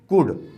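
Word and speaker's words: could: The washerman कुड, C-O-U-L-D, तो इसको पढ़ेंगे कुड, L साइलेंट रहेगा, कुड नॉट, N-O-T, नॉट, कुड not sleep, S-L-E-E-P, sleep, कुड not sleep.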